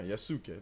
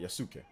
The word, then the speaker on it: Yasuke: remember how to say it again the Japanese pronunciation is Yas yuk yeah yasuke there you go I want to make sure I say it right yasuke there you go Yas um let's see here